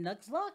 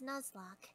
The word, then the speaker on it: Nuzlocke: this this is i attempted my first pokemon nugslock is am i saying it right it's actually pronounced nuzlocke nuzzler thank you see that's why i brought